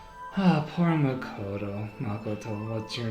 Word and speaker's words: Makoto: makoto honestly oh namakoto everyone pronounced her name wrong it's makoto but i don't know